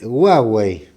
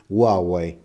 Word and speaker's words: Huawei: y la otra es Huawei o Huawei Según como le guste pronunciarlo yo pienso que lo tenemos que pronunciar en castellano le vamos a decir Huawei eh Cuál es la